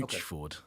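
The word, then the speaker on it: Luetchford: Luchford. All right, Luchford.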